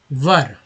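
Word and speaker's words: were: सकते हैं, nitrogen oxide वर, डब्ल्यू ई आर को वर पढ़ेंगे, लोग वेयर भी पढ़ते हैं, लेकिन सही शुद्ध उच्चारण वर ही होगा, है ना, तो वर, क्योंकि वेयर ये भी तो वेयर ही है।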